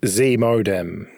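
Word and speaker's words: ZMODEM: know yeah okay all right Graham what is z modem I think you've pronounced it correctly as well um Z modem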